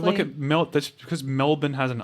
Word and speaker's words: Melbourne: refers to it as melbourne melbourne i think that's just how americans pronounce it i mean it's not hard it's not hard to just say bun as opposed to born is it i mean